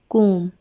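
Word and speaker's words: comb: सबसे पहला है कंघी, कोम। इसको कोम्ब नहीं बोलते, बी साइलेंट होता है, इसको बोलते हैं कोम।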